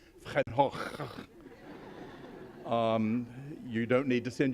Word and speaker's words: Van Gogh: By the way, I find it saves on cleaning bills if you pronounce it Van Gogh instead of Van Gogh.